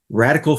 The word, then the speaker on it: RDCL: In this episode, I had the pleasure of speaking with Donny Makower of Radical Foods, and that's spelled RDCL Foods, about superfoods.